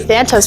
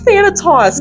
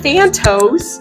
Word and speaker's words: Thanatos: We were saying Thantos earlier. Yeah, she was saying that. It's Thanatos, guys. I can't word. Thanatos.